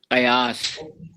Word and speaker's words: قیاس: ویسے وہ ہے ولا حاضل قیاس. تو میں نے اس میں نا ولا حاضر.